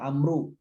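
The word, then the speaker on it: عمرو: Itu kata Amr itu kalau ada wawunya dibaca Amr, kalau nggak ada wawunya dibaca Umar. Kalau ada wawunya dibaca Amr atau Amru. Kalau nggak ada wawunya dibacanya Umar.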